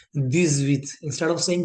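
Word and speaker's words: dix-huit: Then 18 will be 10 plus 8 which gives this with sound, this with. इस case में because आपका एच की कोई साउंड नहीं आ रही, एच आपका म्यूट है,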